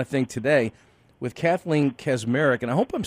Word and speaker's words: Kaczmarek: Did I say your name right, Kaczmarek? Yes, you said it right. We typically we say Kaczmarek, and actually it's not even the Polish way of saying it, but we and it's my married name too.